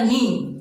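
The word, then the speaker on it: knee: अब next example हमारा नी, इसमें जो के साइलेंट रहता है, ठीक है फ्रेंड्स, और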